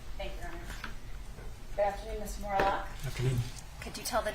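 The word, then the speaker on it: Morelock: your full name for the record Morlock and will you please spell it spell it uh my last name Morlock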